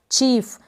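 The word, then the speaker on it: chief: मुख्य या फिर मुखिया चीफ तो यहां पर आई ई है इस आई ई को भी हम बड़ी ई के रूप में प्रोनाउंस कर रहे हैं तो क्लियर हो गया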